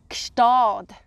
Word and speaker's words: Gstaad: How would you pronounce that one? Yes, very good again. Okay, I would say Gstaad.